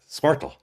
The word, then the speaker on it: Squirtle: Squirtle.